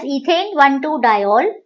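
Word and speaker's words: ethane-1,2-diol: Okay, I will pronounce it as ethane 1,2-diol, but E is not written while writing the name.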